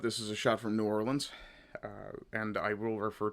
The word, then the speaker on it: New Orleans: Um, but this is a shot from New Orleans. Uh, and I will refer to it as New Orleans. U, if I'm pronouncing it wrong, I know folk in Louisiana like to hear it pronounced Nollins, but I can't do